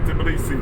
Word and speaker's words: Tbilisi: I threw like the B, right, is in the very beginning of the word, and I was throwing it towards the end. Oh. I was saying Tbilisi. Oh, yeah. It's like Tbilisi. Tbilisi. Yeah, because it's spelled TB. But I threw the B at the end for some reason.